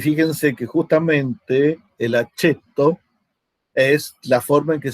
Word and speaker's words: aceto: Bien, y fíjense que justamente el aceto es la forma en que se pronuncia la C en latín, como una Ch o una CH.